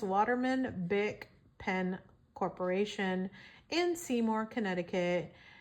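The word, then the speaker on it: Bich: Now you have to be careful how you pronounce that last name because it's B I C H but you can actually pronounce it Bick.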